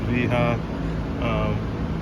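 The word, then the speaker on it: Wera: i got these uh looks like weha and i think it's supposed to be pronounced v-ha made in germany these are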